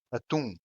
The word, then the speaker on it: atum: For example, atum, which means tuna. The stressed syllable is in tum.